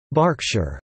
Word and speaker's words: Berkshire: Pennsylvania Berks County after Berkshire pronounced Berkshire England Bristol and Bristol